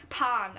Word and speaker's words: Pan: unsere Namen werden sehr, sehr lang ausgesprochen. Also das A wird natürlich, also das A wird betont.